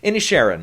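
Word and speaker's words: Inisherin: could get in is banshees uh banshees of in a Sharon I can pronounce it now there you go any Sharon yeah that's that's that they say it like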